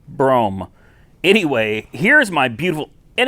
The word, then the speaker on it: Brougham: 1996 Cadillac Fleetwood Brougham or as I used to call it Broham because you know I'm uneducated hey it's not my fault that nobody ever taught me the right way to say Broham I mean brome anyway here's my beautiful